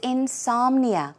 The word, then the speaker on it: insomnia: Another one is insomnia. We all know what insomnia is, but let's check out the pronunciation. The stress goes on som, so it's insomnia, insomnia.